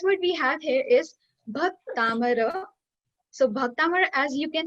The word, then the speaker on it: Bhaktamar: I want your lips, like you should pronounce it with me. Bhaktamar.